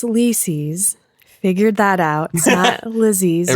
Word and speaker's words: Lisey: lisey's figured that out lizzy's rhymes with cece yeah this is a